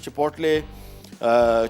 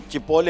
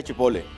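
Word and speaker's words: chipotle: तो chocolate mousse बन रहा है, cinnamon Apple turnovers, creamy चिपोटले chicken, ठीक है, बल्कि चिपोले होगा, ठीक है, टी इसमें साइलेंट है, चिपोले चिकन।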